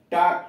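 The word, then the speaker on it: talk: सब में देख रहे हैं यल साइलेंट कर दिया गया है। फोक, एफ ओ एल के, फोक, जन समूह। टाक, टी ए एल के, टाक, बातचीत।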